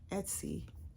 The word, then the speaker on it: Etsy: Yeah, Etsy.